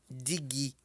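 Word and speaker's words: dígí: Então, espelho em Yorubá pronuncia-se digi, digi, digi, tá? Acento para frente, nosso acento agudo significa que essa palavra deve ser pronunciada em tom alto.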